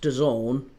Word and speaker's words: DAZN: I'm I keep calling it Done. It feels awful to call it Don. It's D A Zn. That's what I see it as. D A ZN. So why it's pronounced Done seems like a bit dafted, but yeah, it